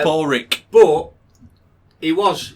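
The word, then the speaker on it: Pádraig: it isn't it no p-a-d-r-a-i-g pronounced for paul drink oh yeah paul rick but he was saying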